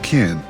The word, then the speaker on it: Qin: And in the western kingdom of Qin, pronounced Qin, in the 59 BC, a baby boy named Ying Zheng was born.